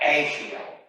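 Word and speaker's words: Ashael: So you're a General Ashiel Stone, A-S-H-A-E-L, however you pronounce that. Ashiel is what I would have been told it was.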